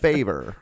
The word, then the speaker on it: Favre: Favor. That's how it sounds.